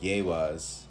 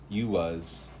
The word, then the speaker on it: Iwaz: It says the next rune is Iwaz, pronounced Yewaz, Uwaz.